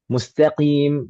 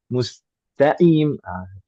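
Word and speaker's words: المستقيم: Ah, itu dibaca dengan kaf misalkan alkamdu atau misalkan dengan ha alhamdu walin harusnya pakai d lalu dibaca pakai d waladin mustaqim dibacanya mustaimah.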